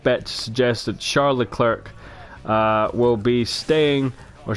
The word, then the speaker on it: Leclerc: to suggest that Charles Leclerc will be staying, or Charles Leclerc, however you want to pronounce it. It's got a C at the end.